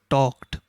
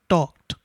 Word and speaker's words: talked: you pronounce these words in some words the letter d sounds like t or you can also